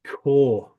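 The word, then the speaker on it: Corps: guys military military military core right or Marine Core you see in Hollywood movies Marine core is French you don't say the PS in the same way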